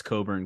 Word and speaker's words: Cockburn: dare you forget Kofi don't try to tell me it's Coburn because it's spelled cockburn oh yeah yeah I